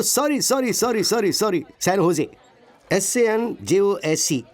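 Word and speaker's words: San José: Oh sorry sorry sorry sorry sorry, सैन होजे, SANJOSC। इसकी spelling यही है ना, लेकिन इसमें जे साइलेंट रहता है, इसलिए इसे सैन होजे बोलते हैं।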